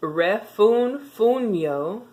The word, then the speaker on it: refunfuño: But there's one word on this page that got me stuck, and it's spelled REFUNFUNYO with a tilde, so, or with an accento. And so it's refunfuño, refunfuño.